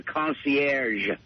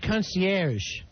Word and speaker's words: concierge: In a hotel has a concierge. It's a soft G. All right, concierge.